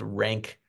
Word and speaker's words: Rank: and the remnants of Ronk, which still seem to haunt the psychoanalytic archive under the heading of Ronk Horror. I suppose you could interpret it or pronounce it as Rank Horror.